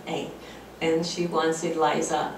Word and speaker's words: Ida: the thing is is um my name is AA it's spelled Ida but the German Way of pronouncing